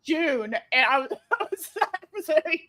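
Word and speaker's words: Joon: Jun spelled J O O N. Oh my god. Okay, that is not how I don't know what I how I pronounced it in my brain. I think I pronounced it as John. I I don't know. That was not So when I heard June, I was I was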